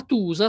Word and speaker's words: tosa: la O, facciamo così, la O normale, senza accenti, senza niente, la pronuncio U. Se voglio scrivere la Tusa, scrivo la Tosa, perché se scrivessi Tusa con la U dovrei dire Tusa.